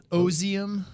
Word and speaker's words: Ozium: Ozium. It's like ozone, Ozium.